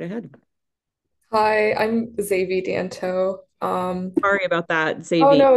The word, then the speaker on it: Xavi: Javi, go ahead, right ahead. Hi, I'm Xavi Danto.